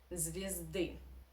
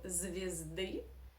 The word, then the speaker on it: звезды: So звезды, this year in the first syllable we pronounce as e because it is unstressed. So the second law, as I call it, of Russian reduction means that here in unstressed position you must pronounce as e. That's why we say звезды, not звезды.